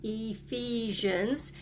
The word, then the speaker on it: Ephesians: it is found in Ephesians that makes a long e sound Ephesians 4:32 and we've had